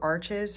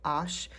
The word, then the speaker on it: Arches: favorite watercolor paper I actually prefer this over arches which is actually pronounced Ash um because it's a little bit smoother it's